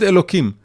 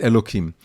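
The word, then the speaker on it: אלהים: And of course, I pronounce it with a kuf, but it's written with the hey, Aleph Lamed Hey Yud Mem, and as we say it, Elokim.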